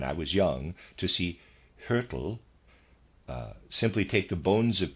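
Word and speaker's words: Hyrtl: under the microscope footnote trying to pronounce the name hurtle readers aside spelled h y r t l and i'm pronouncing that hurtle end of readers aside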